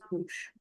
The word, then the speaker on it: bouche: O U gives you the U sound, C H gives you the sh sound, so it becomes bouche.